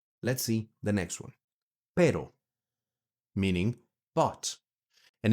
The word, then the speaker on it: pero: Pero, meaning but. And it's very important. Pronunciation tip here. Be very careful. because this one is spelled P-E-R-O with one single R, right?